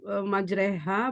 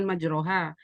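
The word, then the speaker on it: مجريها: tahu bahwa itu apa membacanya harus majreha bukan majroha sama bagaimana orang tahu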